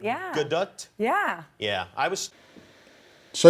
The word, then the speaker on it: Gadot: Gadot. More T at the end. Yeah. Gadot?